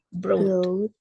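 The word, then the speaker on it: brought: Ya, GH-nya juga nggak dibaca. Broad.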